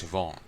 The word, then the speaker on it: Siobhan: have to ask mom like how do you pronounce this again it's Siobhan oh yeah every shift or shift oh it's